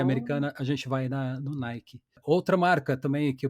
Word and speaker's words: Nike: Outra que a gente fala no Brasil, Nike, que a pronúncia em inglês, né, que a origem da marca é Nike, né, pronuncia o i no final.